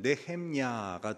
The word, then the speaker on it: 느헤미야: 오늘 본문은 느헤미야의 기도에 대한 말씀입니다. 느헤미야는 우리가 상대적으로 많이 읽어본 책이 아니기 때문에 그 이름도 낯설다고 할 수 있습니다. 느헤미야란 이름의 뜻은 하나님께서 위로하신다라는 뜻입니다. 느헤미야의 히브리어 발음은 네헴야가 되는데 그 마지막 나오는 야는 여러분 아시듯이 하나님이란 뜻입니다.